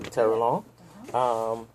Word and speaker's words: Terrelonge: pronounce your last name for me so I can pronounce it. Terrelonge. I had it right, Terrelonge.